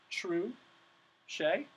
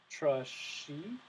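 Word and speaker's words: touché: by breaking a word into its syllables so true Shay two syllables true Shay or true Shay next you write out how to pronounce the word because if I just saw this word I might say try trush so these pronunciation symbols help me to know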